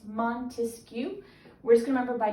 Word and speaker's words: Montesquieu: and this name is very french it's montesquiou okay and the best way to remember this guy is we're gonna remember he has three syllables to his name it's montesquiou we're just gonna remember